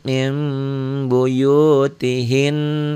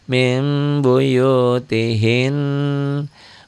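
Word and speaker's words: مِنْ بُيُوتِهِنَّ: Kok dan gunah Heeh min min asalnya bunyi nun mati dibacanya jadi mim mim Tapi agak agak bindeng Mim kayak ada sedikit Lebang kertas gitu ya Bunda Tri pengganti iqlab bisa Nun nunnya bunyi Nun matinya berubah menjadi Bunyi mim mati Min mim mim buyutihin gitu ya cara bacanya gimana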